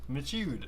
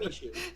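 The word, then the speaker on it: Michoud: Gosh, how do you not know how to pronounce Mishu? Oh, Yes, sir. don't you even start. What do you So- mean? I know how to pronounce Mishu just fine. You don't. Michud.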